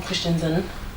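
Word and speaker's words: Christensen: I'm wearing Rotate Berger by Christian Zen, or Christian Zen, that's how you say his name.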